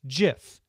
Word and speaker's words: GIF: in 2013 he told the new york times the oxford english dictionary accepts both pronunciations they are wrong it is a soft g pronounced jiff end of story end